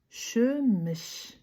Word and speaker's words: шөміш: На казахском это будет звучать как шмыш. Шмш. Шмш. Для того, чтобы правильно произносить это слово, пожалуйста, загуглите это слово, э,